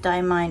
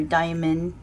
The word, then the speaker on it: Diamine: Tei please note that diamine or Diamond whichever one you want to use for pronunciation um they tend to